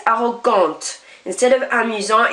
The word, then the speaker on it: arrogante: You just now pronounce the end consonant. So instead of arrogant, it's arrogante.